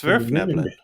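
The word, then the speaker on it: Svirfneblin: It's a Germanic word, so it is pronounced how it is written. There are no silent letters. There are no letters that are pronounced other than what they're supposed to be.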